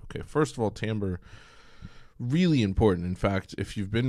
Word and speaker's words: timbre: I know that word looks like timbre, but it's actually pronounced timbre. It comes from a French word, form and texture.